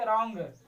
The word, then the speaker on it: wrong: दूसरा जिसका देखो WRONG है तो रॉन्ग पढ़ेंगे, W का उच्चारण नहीं किया, क्या पढ़ेंगे, रॉन्ग।